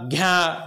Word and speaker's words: ज्ञ: इसकी ध्वनि कैसे होती है मैं बता, ज्ञा घ्या घ्या लिख देता हूं मैं, ज्ञा घ्या, इस तरह से इसका उच्चारण होता है।